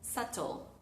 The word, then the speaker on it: subtle: especial donde el sonido va, no se pronuncia, no se articula. SLE. Fíjense que mis labios nunca se juntan, sort. sino simplemente pasamos del sonido a al sonido ta sle o si lo queremos pronunciar en inglés de UK diríamos subtle. Sle. Ambos ignoran el sonido va.